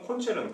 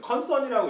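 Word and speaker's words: Konzern: 이렇게 3번 같은 경우 콘체른, 컨선이라고 읽지 않고 콘체른이라고 읽는 거 보니까 독일어일 가능성이 높겠네요.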